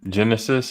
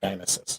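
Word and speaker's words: Genisys: I haven't seen Genesis, and I'm never going to see the last one. So There's no movie called Genesis. It's Gynesis. is it that bad? It's Gynesis. Say it like it's spelled.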